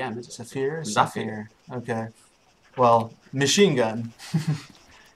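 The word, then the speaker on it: Zafir: for the op Force side it's called the sapphir how you pronounce your Safir how is it pronounced Safir not g is Safir Safir okay well Machine Gun and yeah really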